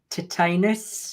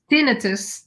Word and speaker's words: tinnitus: I love it, and especially those who've got titanus. You may want to pronounce titanus. Tinnitus, yeah, Titanus.